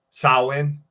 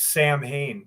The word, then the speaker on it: Samhain: You ever wonder why people mispronounce Samhain? Like even the band would call themselves Sam Hain, but it's pronounced Samhain.